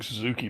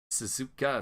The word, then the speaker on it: Suzuka: spectator for that race I don't understand how you guys keep mispronouncing Suzuki but okay Suzuka sir my point exactly it's